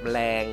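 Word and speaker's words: แมลง: Jadi ini adalah aksara A yang menghilang ya. Kapan tuh dibahas? Nanti ya, nanti kita akan bahas secepatnya. Jadi ini dibacanya meleng ya, meleng.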